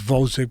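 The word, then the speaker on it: Gvozdyk: he's a Ukrainian Alexander vozack I learned that you don't pronounce the G it's vozack but it starts with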